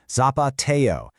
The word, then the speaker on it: zapateo: The real highlight, it's the zapateo, pronounced "zah-pah-tay-oh". This is lightning-fast rhythmic footwork, where the dancers' feet literally become yet another percussion instrument.